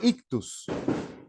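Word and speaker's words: ἰχθύς: ictus esto que ustedes Ven aquí se lee ictus y aquí yo puse ictus directamente pero me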